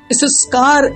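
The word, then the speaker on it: יששכר: इस्कार, इसको बोलते हैं इब्रानी भाषा में, और इसकी जो स्पेलिंग है प्रिय अजीजों, वो है योद, शिन, शिन, कफ, और ये है रेश।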